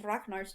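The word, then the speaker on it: Ragnar: except for apparently one of rachnar's children uh who igor was it ivan or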